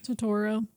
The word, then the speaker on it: Turturro: Turturro.